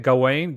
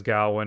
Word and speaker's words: Gawain: This interpretation of the tale of, how do you say it, Gawain?